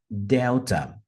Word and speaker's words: Delta: é a sílaba tônica Então essa palavra deve ser pronunciada como delta delta percebam que a primeira sílaba é a sílaba mais forte a a letra e